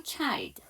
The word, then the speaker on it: children: 더 재밌는 거는 child라는 단수가 될 때는 아이가 이중 모음에서 child고요. 이게 ren이 붙어서 복수형이 되면 아이가 이 발음, 단수 모음이 되는 거죠. 단모음이 되는 거죠. 그래서 children이라고 발음이 달라집니다.